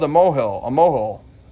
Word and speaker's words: mohel: He's called a mohel, a mohel. How do you pronounce that? I'm German, not Jewish. Moyle, yeah, it's a moyle.